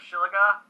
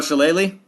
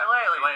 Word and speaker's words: Shillelagh: I'm going to use the Shiliga. as an horizon? Oh, Shillelagh? Yeah. Shillelagh.